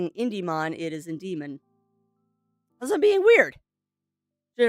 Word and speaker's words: Indemon: mispronouncing it but no it is in Demon not IND demon just me being weird